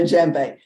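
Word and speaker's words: djembe: this is in jembe it's spelled d-j-e-m-b-e you don't pronounce the d so I don't do African drumming and they don't do drum circles I do rock beats on a jembe because these are easy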